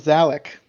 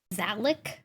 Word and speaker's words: Zalic: your name is zalic zalic spell it all right looks like Alec but with a z it's funnier that way